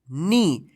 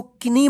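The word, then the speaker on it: knee: इसको पढ़ेंगे ठीक है के एन डबल ई इसको क्या पढ़ेंगे नी इसको किनी मत पढ़िए क्योंकि जो है ना जो है ना साइलेंट रहता है इसका उच्चारण नहीं होता है नी ठीक है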